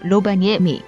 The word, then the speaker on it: Rovaniemi: Rovaniemi 4. Vaasa 5. Helsinki 6. Turkey 7. Kokkola Number 3! Number 3! HYEOP, HYEOP, HYEOP Number 3 Rovamiemi (?) (Pronouncing again) Rovaniemi~ Oh!